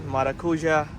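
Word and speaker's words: maracuyá: understanding them well but they were saying Mara Maru maruya maruya which is this one marakuja that's how they say it um they were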